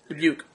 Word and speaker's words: Dubuque: Is that how you pronounce that? Dubuque.